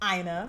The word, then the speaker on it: Aina: Aina. Like China, please pronounce it correctly.